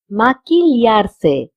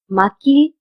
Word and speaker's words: maquillarse: Notice that QUI has been pronounced as ki because we do not pronounce QUI as qui. We pronounce it as ki. And double L is pronounced as lia and ya. If you're in Spain, you will say lia, and if you're in Latin America, in Mexico especially, you will say ya.